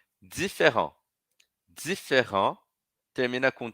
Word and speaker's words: différent: E aí, então, eu estava falando que o différent, como termina em T, aquele T que eu não pronuncio no masculino, e aí eu vou pronunciar no feminino, né.